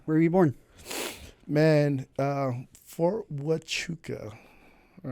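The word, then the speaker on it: Huachuca: Uh, Fort Wuka. All right. Spelled with the Indian pronunciation with a H. Wuka.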